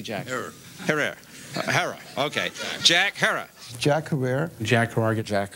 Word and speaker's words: Jack Herer: from marijuana that wasn't shot by a cop Jack Herrera have I pronounced it correctly Jackson Herrera heroin okay Jack Herer Jack Herer Jack Herrera Jack Herer called